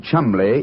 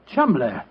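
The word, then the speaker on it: Cholmondeley: Being an American, he had no reason to know that the name Chumley is in no way pronounced the way it is spelled. Oh, Joe, I never thought of that. Chumley.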